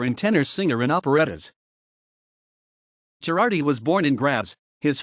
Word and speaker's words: Girardi: Girardi was born in Graz. His father was the locksmith Andreas Girardi, who had migrated to Graz from Cortina d'Ampezzo. Following the early death of his father, Alexander Girardi was raised by his stepfather, who put him